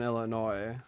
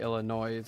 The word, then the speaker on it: Illinois: I know a lot of people like I live in Illinois. A lot of people say Illinois like with the S, but I'm pretty sure the S is supposed to be silent.